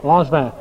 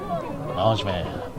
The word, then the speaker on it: Langevin: Spell it. Langebin. Langvin. V-I-N? B-I-N. V as in Vincent? V as in Vincent. Langevin. Langevin? Yep. Oh, is it a French name? Yep. Langevin.